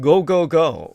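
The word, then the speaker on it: 五五五: $555 a perfect 555 in the Japanese that's pronounced go go go really five is go go go go in Japanese uh very lucky number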